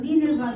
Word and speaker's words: Nineveh: Amen po sa kanya and sa city of Neneva. Niniva. Alam niyo po ginogle ko po yun paano i-pronounce yung Niniva. Pina-pronounce ko po yun kay Google. Niniva daw ang pronunciation.